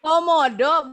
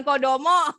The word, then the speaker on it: Komodo: Komodo kayak mana? Komodo. Kayak komodo. Ya betul, kalau komodo lebih besar lagi. Betul. Temennya crocodile, saudaranya. Alligator. Alligator, betul. Bacanya alligator. Komodo, bukan kodomo.